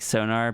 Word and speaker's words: Sona: You say it like sonar, but replace R with A. So Sona. I think that's how I say it, is like a Sona.